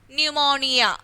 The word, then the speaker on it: pneumonia: and what is this pneumonia isn't it pneumonia it's a disease pneumonia and they're also p is there and whenever i read